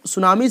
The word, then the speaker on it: tsunami: होता है इसमें, और सुनामी टी लिखाता है लेकिन टी का उच्चारण नहीं होता, प्रोनाउंस नहीं होता।